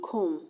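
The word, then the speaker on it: comb: in bomb is silent the b in com is silent the b employment is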